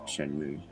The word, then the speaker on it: Shenmue: would say and the way that it's wrote in japanese as well is shenmue and considering it's a japanese game i would say that is the correct way to pronounce it and i've always said